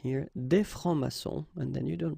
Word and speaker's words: francs-maçons: Des francs-maçons, and then you don't pronounce them. Des francs-maçons.